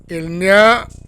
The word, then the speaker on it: il n'y a: N-Y-A, nya, il nya. Now, some people may say nya, and they're going to eat the ill, but that's when you are advanced, okay? Continue to say ill, okay? Il n'y a aucun problème, il n'y a aucun problème.